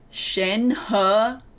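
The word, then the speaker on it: Shenhe: nap the cleavage napkin Shanghai huh my name Shen huh he they actually pronounce the names right that's cool thank you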